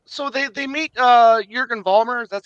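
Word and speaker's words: Jürgen Vollmer: great time right so they they meet uh Jurgen Vollmer that's how you pronounce his name yes yes they meet Jurgen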